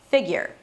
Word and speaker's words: figure: So the fig begins with an F sound, and then it's E as in sit, fi, so it's not fig, fig, it's more relaxed, drop your jaw, there should be a space of about one finger between your top and bottom teeth, and then a G sound, fig.